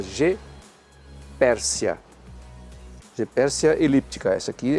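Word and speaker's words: Goeppertia: virou G Pércia e se escreve go e 2p t i a porque o t i a se pronuncia C então é G Pércia o o se não pronuncia porque está na frente do e né então é em vez de GO Pérsia você fala G Pérsia Pérsia elíptica essa aqui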